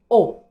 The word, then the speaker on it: au: Nous avons aussi AU, O. Nous avons aussi AUX, O. C'est la même prononciation, sauf que AU, c'est singulier et AUX, c'est pluriel.